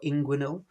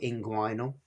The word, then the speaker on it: inguinal: And that can be pronounced a couple of different ways. So, we got inguinal or inguinal. Either is good and I'll use them interchangeably.